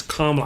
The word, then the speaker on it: Kamala: It rhymes with Mamala, so it's Kamala.